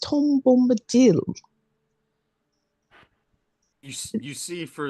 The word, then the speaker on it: Tom Bombadil: His name has not gone around that much, but Tim Bimbado. I believe it's pronounced Tom Bombadil.